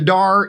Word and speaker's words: Daher: the day her the DAR Institute da h ER but it's pronounced DAR right correct so it's